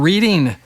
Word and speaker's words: Reading: on the saxophone from Longmont, and originally from Reading, Pennsylvania. Reading, yeah. You got it. See, I'm not from there, so I don't pronounce it right.